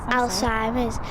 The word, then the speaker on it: Alzheimer's: Alzheimer's.